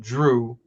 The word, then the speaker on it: Jrue: missed that, if you sound out Drew phonetically, it's Jrue.